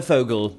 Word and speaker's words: Fogel: It's uh Fogle is my professional name.